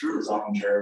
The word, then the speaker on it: Zollinger: Zollinger with a Z. Well, it won't give you too hard of a time. It's Zollinger, but everybody's mispronounced it my entire life.